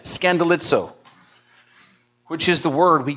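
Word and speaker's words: σκανδαλίζω: it's this greek word right here and it's pronounced scandalizo i don't know how you pronounce it by looking at that that way but that's what it says scandalizo which is the word we get in in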